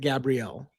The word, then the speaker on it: Gabrielle: It sounds like Gabrielle and she pronounces it Gabrielle. Yeah, it's it's it's the feminine version of it.